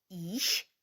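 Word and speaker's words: ich: аух аух також теж а от слово я німецькою мовою звучить трішки по-іншому м'яко і і їж це я Я є іщ Бін іщ Бін наприклад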